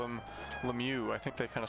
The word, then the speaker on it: Lemieux: So slapshot asks is it Lemieux or Lemma? I think the official NHL pronunciation is Lemieux. Uh but in in French Yeah, it' be Lemieux if you were saying it in French and then you Yeah, I noticed in Really?